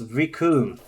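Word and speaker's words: Recoome: because they gave us riku who rhymes with doom and will be gone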